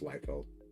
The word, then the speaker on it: Liefeld: Yes, I know it's pronounced Liefeld.